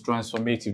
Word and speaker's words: transformative: So for transformative, the stress falls on the third to the last syllable.